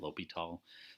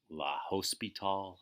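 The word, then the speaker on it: L'Hôpital: in this is but his last name is lobito sometimes they pronounce it la host be tall or something like that but he's not around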